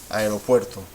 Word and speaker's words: aeropuerto: Aeropuerto. Aeropuerto. Well, this is one syllable. This is the second syllable. But this is the loudest syllable, la sílaba tónica, aeropuerto.